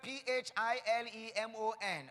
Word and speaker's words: Philemon: tell me yes the first my first name is spelled ph IL e mo n okay does Philemon and the second one is